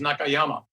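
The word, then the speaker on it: 中山: In Japan, his name is Nakayama, right? Zhongshan is pronounced Nakayama.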